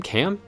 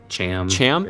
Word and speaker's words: Cham: comment that what have you say his name cam cham okay cham has a daughter apparently it's mentioned